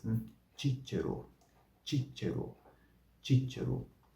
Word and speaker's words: Cicero: O tche e o ti são como no italiano, né? Então a combinação se diz tche, tche, tche, e a outra é ti, ti, ti. E este nome próprio contém as duas sílabas, né?